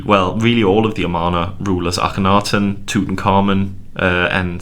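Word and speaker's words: Amarna: down is actually the name of the city amana yes many many people think it's our mana yeah a-r-m and it's not it's amano i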